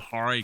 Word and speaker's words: Hare: It's they're called the Hare Krishnas. That's how it is spelled, and it is pronounced Hare, like Hare. People around here call them the Hare Krishnas, but it's actually Hare Krishnas.